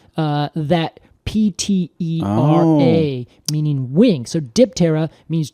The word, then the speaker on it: Diptera: So Diptera means 2 wings, and that is Diptera. Interesting. Yeah, well, we just pronounce it with the P.